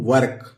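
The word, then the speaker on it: work: अगला है वर्ड दोस्तों वर्क वर्क माने होता है काम कैसे ये पढ़ेंगे ये हुआ व और ये क लिख लेंगे और ऊपर र लगा देंगे ये यहां य वो जो है साइलेंट है तो सीधे-सीधे वर्क वर्क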